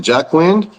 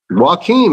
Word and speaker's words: Joaquin: What's it, Jack Wind? How you say it? Joaquin, man, I'm telling you.